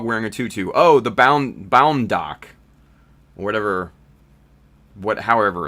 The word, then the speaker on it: Bound Doc: Bound BAUNDDOC, Bound Doc. That's how it's spelled, Ludic.